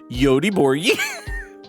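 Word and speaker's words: Göteborg: Uh, Goatborg is weirdly pronounced Yodi Borgi.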